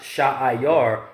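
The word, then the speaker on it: שעיר: The word in the Hebrew is pronounced Sha'ayar, or how they would say seer.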